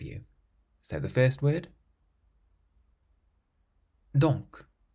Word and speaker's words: donc: So the first word, donc. Donc means therefore, so you pronounce the C on the end.